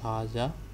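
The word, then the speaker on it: هذا: is one more thing we write hasa like this but we pronounce hajja like this so we pronounce an alif after ha but in writing we don't write this alif then the second thing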